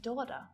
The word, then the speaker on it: daughter: It's that G. Sign, might, design, foreign, and daughter. So what patterns can we see here?